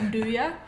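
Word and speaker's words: 'nduja: Definitely the best one that comes to mind is, I can't really pronounce it, but I'll say nduja. Nduja. It's spelt N or apostrophe Nduja, and it's an Italian spicy sausage spread.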